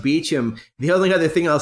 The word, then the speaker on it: Beauchamp: name spelled the same way but but but pronounced Beach him beheld another thing I'll say about that is